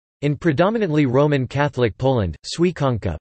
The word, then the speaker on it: Święconka: In predominantly Roman Catholic Poland, Świętonka, Polish pronunciation, Wsinka, meaning the blessing of the Easter baskets, on Holy Saturday, is one of the most enduring and beloved traditions.